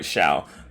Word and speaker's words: Xiao: Zhao, wait, is it Zhao? Let me see. Let me make sure. Let me just see. Okay, I said it right. Xiao.